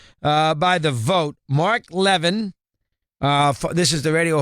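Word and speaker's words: Levin: are the inductees uh by the vote Mark Levan uh this is the radio hall of fame uh is that pronounced right LaVine okay uh from Westwood one uh it just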